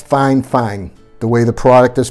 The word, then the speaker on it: fifine: I know when you look at it, it says fifine, so it looks like fifine, but it's fifine. The way the product is pronounced, it is fifine Technologies.